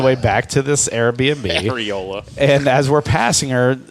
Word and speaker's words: areola: She showed us her Hariola. as opposed to her Ariola. He just mispronounced areola That's what it was.